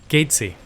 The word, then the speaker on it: Geczy: um please tell us how to pronounce your last name gaty gaty is the uh I do respond to a lot of things that are similar but gaty is the uh most accurate pronunciation that I know of glad glad that they